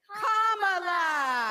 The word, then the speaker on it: Kamala: do you pronounce it first you say comma like a comma in a sentence then you say la la la la Cala together and it's one two three commala Kamala all right so let's